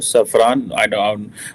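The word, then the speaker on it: Safran: उसका भी बड़ा इम्पोर्टेंट रोल है, क्योंकि जो एमैनुअल मैक्रोन है उसने ग्रीन सिग्नल दे दिया है सैफरान को। सैफरान ऑब्वियसली इसकी एग्जैक्ट प्रोनाउंसिएशन यही होगी सैफरान, कि वो जॉइंटली जो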